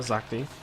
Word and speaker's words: Zakti: Not Zakta, Zakti.